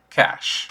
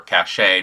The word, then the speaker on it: cache: to have conceal to be able to utilize cash or Cache depending on how you want to pronounce it the cost of this discipline is